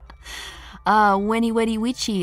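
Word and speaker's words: Veni, vidi, vici: Ew, the proper pronunciation for Veni Vedi Vici sounds like the ooh variation of it. Weni Wedi Wichi, I came, I saw, I conquered.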